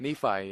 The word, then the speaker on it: Nephi: You've discovered wanting to escape from Nephi. Is that how you say it? Nephi, yeah.